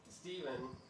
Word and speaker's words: Stefan: combined to Andy Stefan my last name being Stefan and it is always pronounced Steven but it's the German pronunciation of Stefan and so you guys